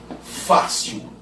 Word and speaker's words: fácil: Por exemplo, se eu falo assim, ó, fácil, beleza, a sílaba tônica é o Fá, perfeito.